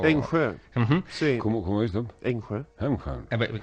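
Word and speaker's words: Engsö: es el castillo de Enso. No sé si lo... Enjö. Sí. ¿Cómo es, Tom? Enjö. Lo pronuncia de una manera distinta.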